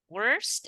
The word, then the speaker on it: worst: It's bad, worst, and now worst. Right? Words. Mm-hmm. And you need to add that T sound at the end. It's a T sound, right? Worst, right? The other one is worse.